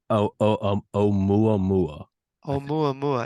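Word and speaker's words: ʻOumuamua: Can you say o mua mua mua mua?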